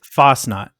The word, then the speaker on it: Fasnacht: it again it's called i've been trying to pronounce that i'm like fan chin art what it's fast not god bless all you what is fast now